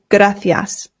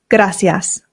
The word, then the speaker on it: gracias: That's because I live in Spain, and here in Spain, they pronounce the C's with a TH sound. Th. So this becomes gracias.